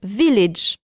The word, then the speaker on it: village: Attention qu'en anglais il se prononce village.